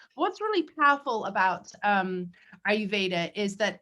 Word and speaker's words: Ayurveda: go into that again one last time so ayurveda it literally means the science of life that's